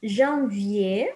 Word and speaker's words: janvier: First one was janvier. Remember, we don't pronounce the R here on janvier.